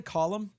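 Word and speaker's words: Colm: I I I have a friend um it's C O L M is his name. Uh but he's like just say column just say like a a column in a building.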